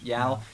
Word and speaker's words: Yeoh: Why I keep forgetting how to pronounce her last Yao. name? Yao.